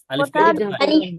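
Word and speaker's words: ألف: বেশি টান তাই না দুইটা হরফে টান হয় না আলিফ আলিফকে দ্রুত বলতে হয় আলিফ টান নাই টান নাই টান ছাড়া দ্রুত বলতে হবে আলিফ আলিফ আলিফ তারপরে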